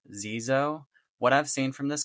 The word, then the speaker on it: Xezo: you can see on this box is pronounced Zoo what I've seen from